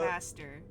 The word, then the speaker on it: Burgomaster: pronunciation? I don't know the Burgermaster. correct I don't know- Burgomaster.